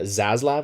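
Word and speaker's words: Zaslav: their ceo david uh zazlav i believe is how his last name name is pronounced something like that has said multiple things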